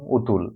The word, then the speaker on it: অতুল: লেখক অতুল প্রসাদ সেন এই যে অতুল এটা হচ্ছে নাম উতুল এজন্য এই অটা ও উচ্চারণ করা যায় এজন্য এটা এদিক থেকে